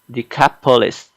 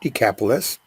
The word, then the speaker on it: Decapolis: and began to Proclaim in the their capitalists the capitalist that's right decapolis what Jesus had done for him and on